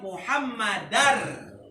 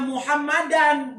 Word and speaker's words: Muhammadan: lafaz Muhammadar. Dia bacanya wa asyhadu anna Muhammadan, bukan Muhammadar. Itu pun gak sah pembacaan tahiyat. Wa asyhadu anna Muhammadan. Kan ada anna ya kan es. Jadinya Muhammadan enggak Muhammadun.